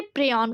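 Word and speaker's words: prion: इसे प्रयन कहा गया। ऑप्शन ए इसका सही जवाब। कहीं-कहीं प्रयन लिखा रहता है। कहीं-कहीं प्रयन लिखा रहता है। ठीक है? सही उच्चारण करें तो ये प्रयॉन है।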